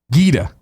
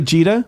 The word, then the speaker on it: Gaeta: pronounce what the hard G is in Gary so Gaeta did not G G did you say Cheeta Cheeta yeah I think when you're saying what somebody tweeted me like I think it's a hard G I was like Oh as in G no no a hard G is good who makes a hard sound in your throat G is kind of like softer coming off your palate all right so it's